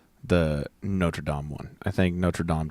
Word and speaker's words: Notre Dame: I say something about Notre Dom is that how you pronounce it it's Notre Dame as the school and you know troodontid